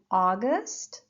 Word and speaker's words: August: And August, again, first syllable.